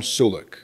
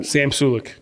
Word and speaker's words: Sulek: His name is Sam Sulek, right? Did I say his name correctly? Yeah, Sam Sulek.